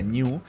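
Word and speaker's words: GNU: de género es ese de hecho género se pronuncia new y la mascota de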